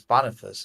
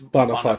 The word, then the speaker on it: Boniface: Yeah, and Also, just for pronunciation consistency, since we've been saying Beatrice, it's Boniface. Boniface. Yeah. Malebolge. Yeah, Boniface is how most of us here in the West say it, but it is Boniface.